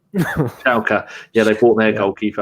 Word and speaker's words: Schalke: I can't pronounce that I call Shakalo 4, but that's not how you say it, is it? Schalke.